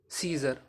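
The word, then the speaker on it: Caesar: तो साइलेंट रहता है अगर ई से पहले ए आ जाए तो व हमेशा साइलेंट रहता है जैसे सी ई ए एस ई आर सीजर इसी तरीके से एम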